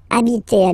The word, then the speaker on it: habiter: just because, of course, it's starting with H, but as I said, you don't pronounce it. So the first sound you hear here is the vowel.